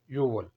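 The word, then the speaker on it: 유월: को कहते हैं युक लेकिन या महीनों का नाम लिखते हैं तो पक्ष में जो गे का र है उसे साइलेंट करते हैं सिर्फ लिखते हैं यू और छठे महीने को यानी कि जून को बोलेंगे यवल सातवां महीना है जुलाई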